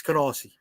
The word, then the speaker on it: Canarsie: It's Canarsie. No. From somebody who lived there, it's Canarsie.